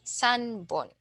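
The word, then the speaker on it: 三本: the three pieces uh instead of P you will say B Sun bone okay so let's try to uh utter these so ibone nion sanbon yon hon gohon Ron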